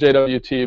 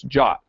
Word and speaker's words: JWT: For reasons that are still not entirely clear to me, the suggested pronunciation of JSON web token isn't JWT, but it's JOT. It's even written in the spec.